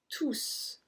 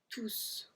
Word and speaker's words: tous: Numéro 27, tous. Tous. We are pronouncing the S as well on this one.